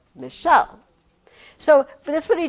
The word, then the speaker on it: Michelle: See, that's how I would scan my name. Michelle. I'm not Michell.